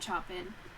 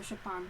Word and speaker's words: Chopin: her own music no it's not it's not chopin that's not how you pronounce it yes i ship on that was right okay um yeah it's because